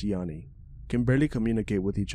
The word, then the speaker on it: Gianni: Make a good friend named Gianni, pronounced Yanni.